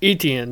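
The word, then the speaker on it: Etienne: never say his name can you oh Travis eten etan yeah that's it yeah uh they're kind of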